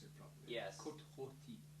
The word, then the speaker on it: Côte Rôtie: Côte Rôtie. Côte Rôtie. You're going to need to email me that. I'm going to get some. And you'll have to be able to pronounce it properly. Yes. Côte Rôtie.